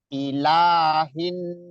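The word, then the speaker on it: إِلَٰهِ: Ilahin, jangan ilahin, jangan, tapi ayun aja. Ilahin nas. Coba. Ilahin nas. H-nya jangan jangan hin, tapi hin.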